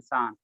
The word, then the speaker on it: Schwann: सर उसको कैसे pronounce करेंगे, सेलाइडन के बाद स्वान SHWANN शान, नहीं आता तो शान पढ़ लेना, शान पढ़ लेना।